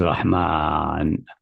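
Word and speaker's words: رحمن: But pronounced always Rahman, with alif between a meme and then.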